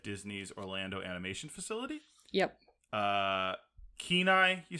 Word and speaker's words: Kenai: Kenai, you said is how it's pronounced?